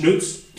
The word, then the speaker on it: XNÜTZ: branding on it, pronounced XNÜTZ, obviously spelled XNU, or the German U with the 2 dots, TZ, XNÜTZ. But if we got rid of the X, you would just call it nuts, because this item is actually quite nuts.